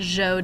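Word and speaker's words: Zhou: the Z so it's kind of like Joe but with a softer J that's how that Z is pronounced the Joe Dynasty and they last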